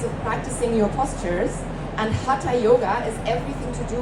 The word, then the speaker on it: Hatha: What we often hear in the West is Hatha Yoga, or Hatha Yoga as it's pronounced here.